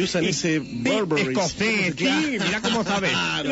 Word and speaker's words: Burberry: ¡Burberry! Y le cortó el pescuezo. ¿Cómo se pronuncia, Dick, bien eso?